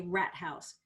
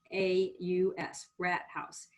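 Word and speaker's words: Rathaus: um it's a very pretty it's called a rat house let me spell that r-a-t-h-a-u-s rat house which is a town hall which i find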